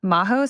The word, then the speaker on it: Majo: on instagram at my name maho spelled m-a-j-o so it's spelled with a j and you should find